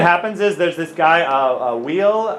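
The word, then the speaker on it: Weyl: One thing that happens is there's this guy, Wheel, I believe his name is pronounced W-I-L.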